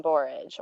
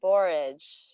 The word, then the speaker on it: borage: think about this again borage borage what is a word that rhymes with beret borage anybody yes leah courage oh yes i love porridge yes it also rhymes with porridge um but it's courage